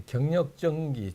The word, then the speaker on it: 격력전기: 불리는 경력 전기입니다 예 경력 전기 좀 생소한 발음인데 그리 에너지 또는 커리 어 한자를 그냥 한국으로 한국말로 소개하면 경력 전기가 되는 겁니다 중국에서 에어컨의 왕이라 불린 기업이죠